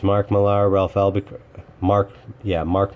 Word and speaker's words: Mark Millar: is he pronounces it Miller well if it was pronounced Miller mr. Mark Millar then it would be spelled mi ll er why do I have